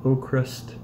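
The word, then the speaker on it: Avkrvst: a debut album by a band called oh crust spelled a-v-k-r-v-s-t the v's sound like use when pronouncing the band name and their albums called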